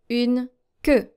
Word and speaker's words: queue: And in French, this is how you pronounce it. Une queue. Une queue. So it's a deeper E sound here that you're supposed to make.